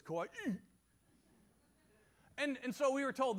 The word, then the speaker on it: Kauai: I found out that anytime you say a Hawaiian word, you have to pronounce the last syllable like someone's punching you in the stomach. So it's Kauai.